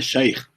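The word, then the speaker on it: شيخ: ser um sheik o sheik é uma palavra árabe em área se pronuncia sair uma palavra do que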